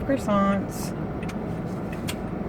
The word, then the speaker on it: croissant: But give you a bagel or a croissant. Croissant. We say it like French. Croissant. Don't they like spit at you?